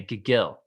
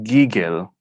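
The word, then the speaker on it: gigil: the second part again i'm gonna say gill close it's giggle okay so now it's on the first so okay gigo what is what is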